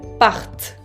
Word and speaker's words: partent: Et pour la personne il ou elle au pluriel, la troisième personne du pluriel, on ajoute ENT, que no se pronuncia, qui ne se prononce pas. Il ou elle partent.